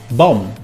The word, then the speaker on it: bomb: In English, when you find a word that finishes with MB, we don't pronounce the B. For example, climb, comb, num, bomb.